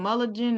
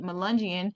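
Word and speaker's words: Melungeon: Um, Melundian I've been saying Mulligan. I I I say the word wrong all the time, but Melundian is the proper way to say it.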